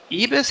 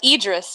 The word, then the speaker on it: Idris: Is it Ibis? How do you say his name? Idris? Idris, yeah.